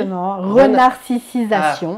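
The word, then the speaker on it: renarcissisation: Je l'ai bien dit ? Renarcisation. Renarcisation. Voilà. J'avais oublié une syllabe.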